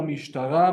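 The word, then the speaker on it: משטרה: So I can interchange Tel Aviv with La Mishtara.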